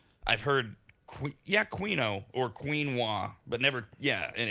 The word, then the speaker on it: quinoa: It Oh, a lot of Americans say quino instead of quinoa.